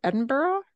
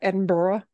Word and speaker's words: Edinburgh: and I think actually if you're going to be proper Edinburgh right not Edinburg but Edinburgh uh and as I